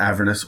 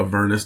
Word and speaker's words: Avernus: An interesting addition into this book, The Descent into Avernus, or Avernus, depending on how you want to pronounce it.